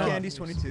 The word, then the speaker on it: Candy's 22: So is it Candies 22 caliber, because that's in the sign, or are we saying it wrong? Or no, it's just Candies 22. It's Candies 22.